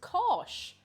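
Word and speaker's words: cáis: say cheese and irish it's actually not too different from the german it's kosh hang on do you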